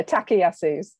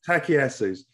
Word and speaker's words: Takayasu's: And Artie also has a very rare vasculitis called Takayasu. Did I pronounce that right? You've pronounced it better than most people tend to. I've been practicing. Yeah, Takayasu's. Takayasu's.